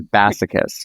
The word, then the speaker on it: Bassichis: My last name is Basochus which sometimes I say it sounds like massochist. So if you are if you forget and you think how does Morgan pronounce their last name? It's like massochist.